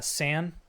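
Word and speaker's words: Sane: Uh, Sam. It's just it's like Sam but with an N.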